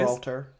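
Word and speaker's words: Gibraltar: You pronounce it correctly for me please. Gibralter. Gibralar. Gibralter. Gibralter. Yeah. Hard G.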